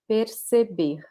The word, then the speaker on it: perceber: this kind of R, because some regions in Brazil, like the state of São Paulo, they will pronounce it mostly like this. Perceber, perceber, per. Some other regions will say like the R from English, perceber, perceber.